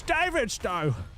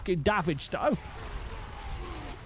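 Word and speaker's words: Davidstow: I got very angry it's David though not davage though Welsh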